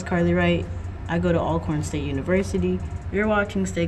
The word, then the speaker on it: Alcorn: Alcorn?